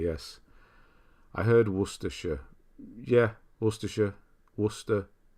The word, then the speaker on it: Worcestershire: Yeah, Worcestershire. Worcestershire. So SH. Not Shire, just the SH.